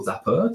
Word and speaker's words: Zappar: and so I guess zapar or zapper depending on how you want to pronounce it um is basically has